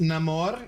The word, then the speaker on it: Namor: It's pronounced Namore.